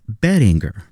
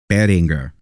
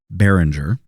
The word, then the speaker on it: Behringer: and they tell you because it's a German company, they tell you how to pronounce their name. And the name is Binger. Beringer. Not Behringer.